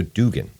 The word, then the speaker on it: Duggan: It's actually pronounced Duggan.